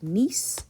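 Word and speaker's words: gneiss: you have what's called nice the g is silent quartzite which is actually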